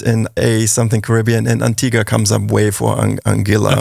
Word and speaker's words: Antigua: So we booked a vacation, left Ibiza, went to Antigua. The locals say Antigua, not Antigua, but it's named from the Spanish conquistadores. So it's of course correct would be Antigua.